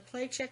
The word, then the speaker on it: Placek: On the Placek matter, this is, am I saying it right, first of all?